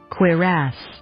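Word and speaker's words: cuirass: C U R A S S Quirass. Quirass. That was close. Quirass. Quirass. Quass. Quir. Quass. Quirass. That's really how you say it.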